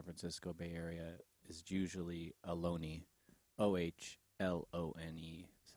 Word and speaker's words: Ohlone: the bay area refer to themselves as the alone of costanoen which brings us to cello joe